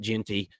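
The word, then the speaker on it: Jeanty: and they hand the ball off to um Genty and and I said Gentry and I'm sorry about that I meant Genty um thank you Uncle Lou for messing me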